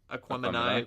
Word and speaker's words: Aquemini: So, I believe that's how it's Aquemini. pronounced. Aquemini.